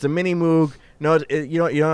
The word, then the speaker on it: Moog: A new slur for guys who really like the Moog synthesizer. It's it's pronounced Moog.